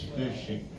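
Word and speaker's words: phishing: It's not fishing, it's fishing. It's the phas sound and I had to hear that lecture all the way here.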